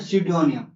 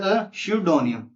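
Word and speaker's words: pseudonym: तो उस अस्यूम किए हुए नाम को हम बोलते हैं सडोनियम। क्या बोलते हैं? सडोनियम। क्या बोलते हैं? सडोनियम। ठीक है? पी साइलेंट है तो सडोनियम।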